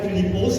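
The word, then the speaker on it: Φίλιππος: جو نام فلپس ہے، یہ ایک یونانی نیم ہے، گریک، اور اس کا تلفظ جو گریک میں ہے وہ فلیپوس ہے، اور اس کے معنی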